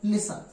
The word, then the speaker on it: listen: जैसे एग्जाम्पल देखें, LISTEN, तो इसके अंत में क्या है? TEN, इसलिए इसका उच्चारण टी का नहीं होगा और क्या पढ़ा जाएगा? लिसन।